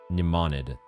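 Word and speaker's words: Mnemonid: Nemonid cuz the M at the start is silent.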